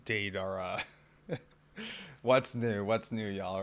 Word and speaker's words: Deidara: Apparently, I was pronouncing his name wrong. It's Deidara.